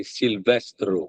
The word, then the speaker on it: Silvestro: Silvestro. Yep. Well, actually, of course, in Italian we say Silvestro. But Silvestro.